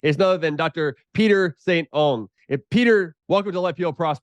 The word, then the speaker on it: St. Onge: you you were 98 Saint Ange so it rhymes with orange but I have gotten